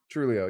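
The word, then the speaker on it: Truglio: Pretty sure Him, that G is silent. Trulio, yeah, Joe Trulio.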